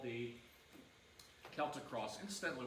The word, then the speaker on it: Celtic: Incidentally, we usually use the word with hard C as opposed to the Boston Celtics. That's the basketball team, spelled the same way. But you'll find that most people now are pronouncing this with the hard C, the Celt.